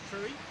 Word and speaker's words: True: Is it True or Truey? Do we have a definitive pronunciation of Mike True's name? Mike True, I think it is. Sorry? True or Truey? Truey? Truey. Is that okay? That's how I've always heard it pronounced by American people.